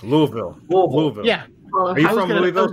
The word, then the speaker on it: Louisville: oh instead of louisville you have to pretend you're brushing your teeth and go louisville right louisville yeah are you from